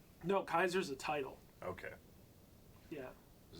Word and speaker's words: Caesar: They say Kaiser Kaiser. Shit. because that's how it would have been pronounced in Latin, I believe.